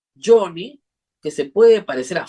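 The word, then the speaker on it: Joni: La explicación era que no es Lai, sino es Johnny, pero no Johnny como se escribe en inglés, sino es J-O-N-I, Johnny, que se puede parecer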